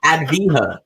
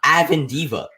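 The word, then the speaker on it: Avdija: he started becoming relevant he used to say aend Diva Adena Denny adiva it's adha not aend Diva dude why you why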